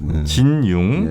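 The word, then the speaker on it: 金庸: 아, 네, 중국식 발음은 진융.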